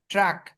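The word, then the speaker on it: truck: ক, এই সি কে যেখানে থাকবে দেখবেন ক উচ্চারণ হবে, ট্রাক, সি টি আর ইউ, ট্রা, সি কে, ট্রাক,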